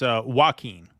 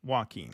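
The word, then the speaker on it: Joaquin: Jacen Jacqu how he pronounce it it's walkin walkin walkin Phoenix walkin Phoenix Jonathan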